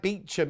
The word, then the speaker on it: Beauchamp: you mean the veil of eva oh why spell it bellevoir then if it's beaver that's like beachum isn't it beauchamp and beachum 5.99 oh they're